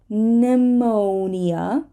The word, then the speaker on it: pneumonia: Catholic Catholic people so we have a silent p in the following words pneumonia pneumonia right an inflammation